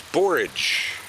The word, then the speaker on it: borage: can see here is borage. Borage. Borage rhymes with courage. Borage rhymes with porridge. Shut up, Z! Borage rhymes with courage, and that's the only thing you need to know.